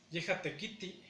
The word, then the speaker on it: yehatekiti: Cuando decimos él trabaja, sería yehatekiti. Lleva acento en la tercera sílaba, pero cortamos rápidamente la i.